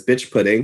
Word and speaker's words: Biqtch Puddin: That's Biqtch Pudding. The Q is silent, so don't forget the Q.